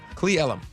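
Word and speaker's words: Cle Elum: Is it Elum or Ellum? Ellum. Cle. Ellum.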